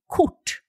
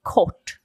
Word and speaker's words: kort: But if we talk about a length of something or height of something, we say kort. Kort. Okay, so it's a slightly different vowel sound, but spelled the same, yeah? Yes. And to a Swede, okay, it sounds completely different.